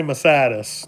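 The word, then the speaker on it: Masardis: Yeah, and make sure you say Massatis. That's how it's pronounced.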